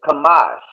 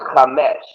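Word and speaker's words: חמש: The next word is Kamash. Now the Yiddish would say that's Chamesh, but we don't follow those fucking small hats. So that's Kamash.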